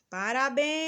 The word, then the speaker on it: parabéns: antepenultima mais um exemplo parabéns te demoramos mais nos bens bens é a última sílaba da palavra mas um